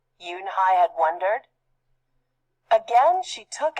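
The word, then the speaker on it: Unhei: new here what's your name a girl asked yoonhai said yunhai une the girl asked scrunching up her face some kids chanted no no yoon hai corrected it's spelled u-n-h-e-i it's pronounced yunhai oh it's the boy said like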